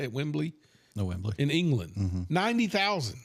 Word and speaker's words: Wembley: The largest is Wembley. How do you say it? Wembley No, Wembley.